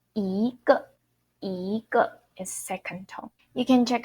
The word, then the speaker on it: 一个: 一个 I pronounce second tone and then neutral tone. So the 个 this word, when we use it as a measure word, we pronounce neutral tone or fifth tone or no tone.